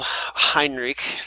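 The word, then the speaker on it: Henrik: Okay, so that's old Hinrich. That's how it's pronounced in Norwegian.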